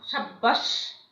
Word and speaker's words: সাব্বাস: ব বা ম এর সাথে যদি ব ফলা যুক্ত হয় তবে সে ব এর উচ্চারণ অবিকৃত থাকে। যেমন দেখো বাব্বা, হ্যাঁ, বাব্বা, সাব্বাস, হ্যাঁ, এগুলো কিন্তু ব তোমার উচ্চারিত হয়, হুবহু উচ্চারিত হয়।